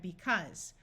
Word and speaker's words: because: we have was this Au U is going to have a short u sound even though it usually says a so we have because what was because and